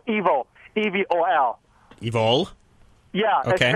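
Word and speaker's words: Evol: second feature movie called Evil, E-V-O-L. Evil? Yeah, okay. It's pronounced evil, like E-V-I-L, but it's love spelled backwards.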